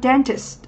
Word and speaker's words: dentist: Ở đáp án C thì chúng ta có danh từ trọng âm rơi âm tiết thứ nhất, nó có nghĩa là bác sĩ nha khoa, dentist.